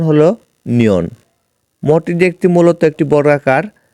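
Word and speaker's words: 니은: মিউম আর ন এর কুরিয়ান রূপ এর কুরিয়ান উচ্চারণ হলো নিয়ন মটি একটি মূলত একটি বর্গাকার আর নিয়ন এর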